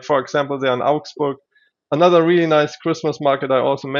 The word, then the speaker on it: Augsburg: I would fly into Munich, but you would take us to these other places like I can't pronounce it. My German is not that great. Augsburg. It's Augsburg.